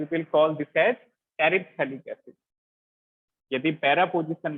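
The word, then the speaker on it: terephthalic: तो यहाँ पे बताओ कौन सा एसिड है, 1,4 पे है, इट इज टेरिथैलिक acid. T silent है, TEREPTHALIC।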